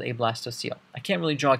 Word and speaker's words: blastocoel: VLA sto co e l this is not pronounced blasto coal this is actually pronounced blast OCLC OE L